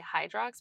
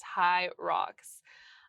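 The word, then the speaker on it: Hyrox: I always want to say Hydrox, but it's high rocks.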